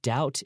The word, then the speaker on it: doubt: no doubt about and how do you spell that doubt is do you BT that B is silent so you could also